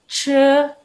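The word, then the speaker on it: 吃: Dibaca bukan ci, tapi dibacanya pakai E ya. Jadi ce.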